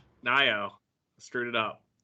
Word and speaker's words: Nayo: not it looks like Mayo but it's n Nao screwed it up it's all good most people do we look at things phonetically and so we look at the word